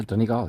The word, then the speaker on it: Donegal: Am I saying it right? Yeah, Donegal, yeah. Donegal, okay.